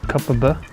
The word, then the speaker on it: Kopparberg: Locals pronounce it Kopparberg.